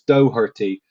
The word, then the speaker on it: Doherty: says as an Irishman the pronunciation is Doherty there is no K I know that's what